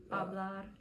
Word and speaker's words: hablar: Because the H is silent, so you're not going to say I got mixed up on the ace and this hablar, hablar, llorar, yolar, llorar,